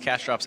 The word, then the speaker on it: CashDrop: Defending King nine suited from the small blind going to be up against CashDrops Ace King in plus one.